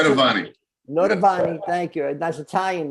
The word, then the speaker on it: Noitavonne: How do you pronounce Noitavonne. it? Noitavonne.